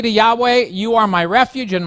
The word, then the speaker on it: Yahweh: say what is that that is the appropriate way of pronouncing what was written in the king james version jehovah it is the personal name